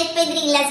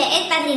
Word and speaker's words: espadrillas: La prima persona che nei commenti dirà: non si dice Espedrillas, ma si dice Espadrillas.